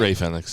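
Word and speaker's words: Rey Fénix: Ray Phoenix, yeah.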